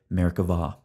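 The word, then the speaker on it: Merkavah: see by the way Hebrew grammar requires pronouncing the B as a V so we say Merkava we're going to approach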